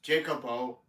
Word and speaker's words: Jacobo: You should meet Dusty Dawn, whose real name is Bailey, and Jacobo is pronounced Jacobo without the J.